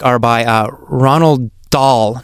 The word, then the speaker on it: Dahl: are by uh Ronald doll not sure if I'm pronouncing his name right but I think doll is d a HL if I'm right anyway uh he wrote